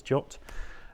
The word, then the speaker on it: JWT: Json web token or jot standard that is the official pronunciation of JWT is jot um and uh it